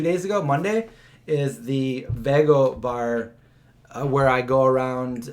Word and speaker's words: VEGO: So first of all, it's the VEGO bar, which can be pronounced VEGO, VEGO. I talked to the owner. I said, what's the proper way to say this? And he says, there's no proper way. You know, some people say VEGO. Some people over here say VEGO. It's all okay.